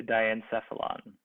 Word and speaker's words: diencephalon: gland this is considered the diencephalon the diencephalon that's how we pronounce that um you know die meaning two and then miacephalon right